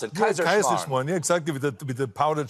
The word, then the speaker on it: Kaiserschmarrn: I didn't know how to pronounce it. Kaiserschmarrn.